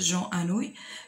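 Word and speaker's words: Anouilh: Alors, j'allais comme vous pouvez la comme la vidéo, il fait Jean Anouille, qui me goûte comme Jean Anouille.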